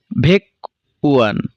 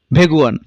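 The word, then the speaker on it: 백원: এই ভেকুয়ান উচ্চারণটি ভুল। তাহলে আমাদের বাসিমের নিয়ম অনুযায়ী বাসিমের গিয়োগ ইয়ং এর স্থানে গিয়ে তার মূল উচ্চারণে উচ্চারিত হবে। তাহলে সঠিক উচ্চারণটি কি হবে? ভেগুয়ান, যার অর্থ 101।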